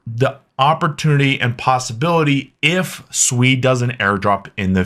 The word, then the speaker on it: Sui: And first off, how's it pronounced? It is SUI. It is not SUI. I've been corrected multiple times. So if you want to be on the better half of the SUI community, just pronounce it SUI.